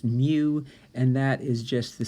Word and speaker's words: mu: population and times mu squared remember this is pronounced mu and that is just the symbol we use